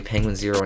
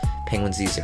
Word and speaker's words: penguinz0: And then this guy, Dragon Center, says, "Finally, someone pronounced his name like I do. Penguin Zero. Not the lame Penguin Z." Yeah, it's just Penguin Zero.